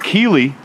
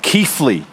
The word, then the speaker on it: Keighley: 2.0 we're here in you might think you'd pronounce it key but it's pronounced keyle and uh we are about o 10 miles